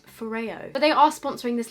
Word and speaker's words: FOREO: good Christmas present I am actually working with Ferrara on this part of the video did you know that I've been pronouncing this for you for the past I